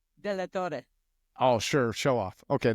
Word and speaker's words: DeLaTorre: at mortgage Ballers and today I've got delator I'm I'm not even saying it right say your last name for everybody you know it correctly delor oh sure show off okay there we go